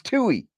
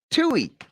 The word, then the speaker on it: Tui: It's spelled like I want to say Tucci or Touchy. It's Tui. Tui.